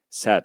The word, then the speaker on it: said: Buradaki fiilimiz de say arkadaşlar geçmiş zamanda sad olarak telaffuz etmemiz gerekiyor.